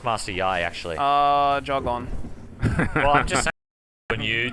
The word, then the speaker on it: Master Yi: stupid master yi pronounce master yai actually uh jog on you to the league of legends he's actually pronounced master yai yeah yeah master yah